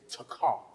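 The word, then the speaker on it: תקע: The word clap in the Hebrew is takah. It is spelled in English.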